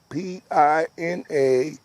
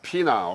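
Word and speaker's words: Piña: My last name is Pina, P-I-N-A, spelled with the tilde over the N. N. So, can you pronounce your last name again? No, it's not Pina, okay, right? No, it's Pina.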